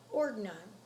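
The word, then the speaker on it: Ordnung: a set of rules for living known as organon these rules are established by the leaders of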